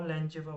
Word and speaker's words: Langevin: Now there is a treatment that is known as the Langevin treatment. Okay, so what Langevin did, or Langeva, whatever you way you can pronounce it, equation.